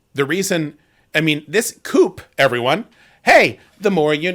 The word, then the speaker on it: coup: It's spelled the same, but it's a French word, and in French, you don't pronounce the final consonant in letters.